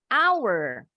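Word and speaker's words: hour: lanjut lagi yang berikutnya our Yes bacanya sama dengan milik kami our hama phones air kita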